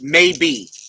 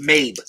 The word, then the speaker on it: Mabe: Pronounced maybe. Oh, Mabe. The E is silent, so pronounced Mabe.